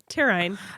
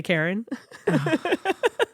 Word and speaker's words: Taryne: Taryne. Taryne. Okay. Or when they just ignore the T altogether and say Karen.